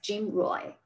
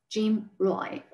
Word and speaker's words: GMROI: Okay, gross margin return on inventory is abbreviated as GMROI, and it's usually pronounced as GMROI. GMROI.